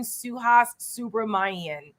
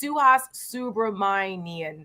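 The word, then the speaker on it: Suhas Subramanyam: It's Congressman Suhas Subramanian. He's got a tough last name to pronounce, but it's Suhas Subramanian. I think that's how you pronounce it.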